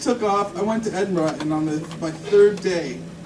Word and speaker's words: Edinburgh: Yeah, It's not borough. No, everybody always goes borough and Edinburgh and and Loughborough and no, if you say it like bra, like Edinburgh. like a woman's bra, Edinburgh. and then just soften it. Edinburgh. Then it sounds like it.